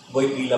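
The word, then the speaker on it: Wojtyła: Wojtyla po yung pronunciation.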